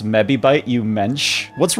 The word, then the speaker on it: mebibyte: It's mebibyte. Oh, your pronunciation was great.